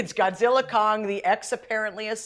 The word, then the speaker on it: Godzilla x Kong: Titans team up but the x is silent according to Warner Brothers so it's Godzilla Kong the new Empire wait Tera if we